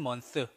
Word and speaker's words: month: See you next month. TH 발음. The. 아시겠죠? Month. 번데기 발음.